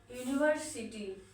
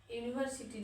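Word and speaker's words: university: यूनिवर्सिटी, यूनिवर्सिटी जो कि consonant sound है लगेगा ए, ठीक है।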